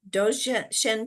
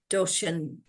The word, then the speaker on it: Dzogchen: And now, for people who are popping on to say hello, and I'm going to not pronounce it correctly. Is it the Dzogchen teachings? That's what you're Dzogchen.